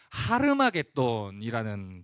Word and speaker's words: 하르마게돈: 많이이 접에 보셨을 텐데 아마게돈이라는 말의 정확한 히브리어 발음은 하르마게돈이라는 발음입니다이 단어는 하르 아는 히브리어